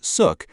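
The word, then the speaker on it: Xuc: Born in the 1940s, the name Shook, pronounced Suk, comes from the quirky shukshook sound made by the clarinet in traditional folk music.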